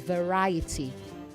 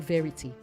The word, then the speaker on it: variety: It is variety, not verity. Variety, okay?